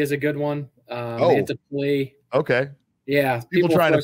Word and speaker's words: Mantiply: So when it comes to explaining how to, you know, say our name, we would always say it's like Multiply, but with, obviously, because we'll get Mantiply is a good one. Mantiply.